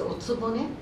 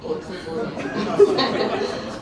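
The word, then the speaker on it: お局: of in Japanese it's otsubone. What do you say in English? Otsubone. It's not otsubo. Otsubone.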